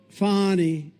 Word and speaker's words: Fani: It's pronounced Fani, F-A-N-I, that's Fanny. But she likes it Fani.